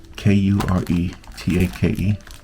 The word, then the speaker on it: Kuretake: One is, well, they're both from a company called Kuretake, which she told me how to pronounce. Can you see it there? Is it focusing? Kuretake.